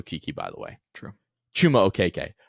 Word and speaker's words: Chuma Okeke: Chuma Okeke. I'm on a hot streak. I've used it in the proper context. I've been pronouncing it correctly.